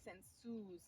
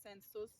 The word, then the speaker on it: sensus: in this version but usually the plural has a long u like Senus not sensus Senus so you can like